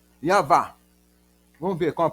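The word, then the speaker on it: יהוה: Em inglês, seria Yawa. Ou se for pronunciar em hebraico, seria alguma coisa como Yav. Yav.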